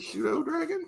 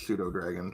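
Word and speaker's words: pseudodragon: unlike Goldie is just there's a silent P involved so I rolled a three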